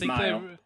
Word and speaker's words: Mile: Yeah, because I believe there's actually a point in the book where she says she renames herself based on a distance or whatever. So, yeah, I mean, even if they pronounce it a little differently in Japanese, I believe the author makes it pretty clear that it's supposed to be a mile.